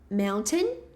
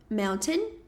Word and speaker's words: mountain: A gente pode falar mountain. Mountain. Mountain como esse T. Ou a gente pode falar sem esse T. E aí existe uma pausa quando a gente vai pronunciar esse T.